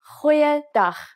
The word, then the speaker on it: Goeiedag: G, try pronouncing it from the back of your throat. Goeiedag, goeiedag, ek is Anne-Marie Luck.